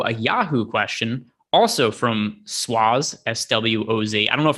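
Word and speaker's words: Swoz: Also from Swaz, S-W-O-Z. I don't know if I'm pronouncing that. How would you pronounce that? S-W-O-Z. Swaz?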